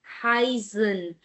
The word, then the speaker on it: heißen: And we know that if it's EI, then sound is of I, high, heißen. And SZ works as double S, right? And heißen is a verb which means to be called.